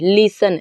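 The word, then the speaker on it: listen: जैसे example silent और कैसे जाने, जब मैं पीएल लिखूंगी तो आप समझ जाएंगे प्रोनाउंस एल फॉर लेटर। देखिए इसका भी लिसन, लिसन, ये लिसन, देखिए ई टी का प्रोनाउंस नहीं किया गया है।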